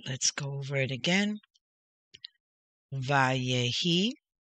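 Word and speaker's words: ויהי: Vayehi. Erev. Vayehi. Voker. Yom. Remember when the dot is over the letter? It is pronounced O.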